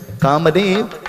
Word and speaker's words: Kamadeva: Kamadeva, he's the god of? No, you don't say it like that. Kamadeva, he's the god of love.